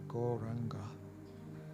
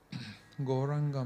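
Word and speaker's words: Gauranga: say the wonderful mantra goranga on the exhale goranga mantra has four syllables so we are going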